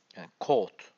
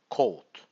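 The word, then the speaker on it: coat: ses çıkartıyor devam edelim o ve a'yı yan yana görürseniz o uzatılır Code a harfi tamamen okunmuyor hiç yokmuş gibi Code bu videoyu defalarca dinleyebileceğiniz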